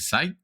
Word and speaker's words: scythe: Is it scythe? Is it scythe? Scythe. Yeah, the scythe. Scythe. The scythe, yeah.